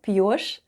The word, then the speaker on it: пьёшь: Soft Sign at the end of ПЬЁШЬ /p'yosh/ doesn't affect the way we pronounce Ш /sh'/.